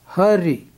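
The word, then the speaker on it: ਹਰਿ: So we will pronounce it as hurry, hurry.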